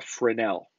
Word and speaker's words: Fresnel: And the way that you pronounce that is a Fresnel.